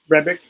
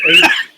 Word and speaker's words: Hrebik: And that is Kevin Hrebik. It's Whoa. Yeah. How do you spell that? Hrebik. Okay. Yeah, the H is silent.